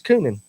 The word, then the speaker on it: Coonan: It's Coonan. It is Coonan. No. Is it not Coonan? Well, it's not raccoonin, but Raccoon sounds so good.